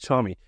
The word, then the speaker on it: Charmie: asked this before we started recording it is Charmy but I'm pronouncing this correctly yes yeah yeah perfect charm me um for those that don't know you what